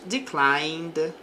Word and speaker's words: declined: Sales declined last month. Então, as vendas caíram. Aqui não pronunciamos o E.